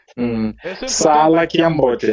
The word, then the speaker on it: Sala Kiambote: Sala Kiambote. Exato, Sala Kiambote. It's a prolonged A. Exactly, porque otherwise, se você não pronuncia, quer dizer, fica sala. Fica sala. Sala de trabalhar. Yeah, which means something else.